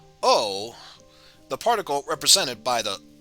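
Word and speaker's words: を: as a regular syllable o the particle represented by the o is actually pronounced o instead of because in this case the w would be silent because of the subject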